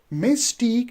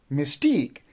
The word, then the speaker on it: mistake: so you see that we have again two syllable one is Miss and another one is TE Mystique so we don't say mque if we do say Mystique then you are putting the stress on the first syllable which is wrong so you can't say mistake you will say mistake similarly we have another